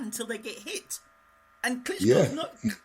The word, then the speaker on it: Klitschko: got a plan until they get hit and Klitschko no you said it right yeah you said